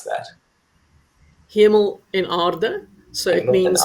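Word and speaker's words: Hemel-en-Aarde: So let's head to, I apologize in advance, Hamel and Ade. Fiona, how do I pronounce that? Hemel en aarde.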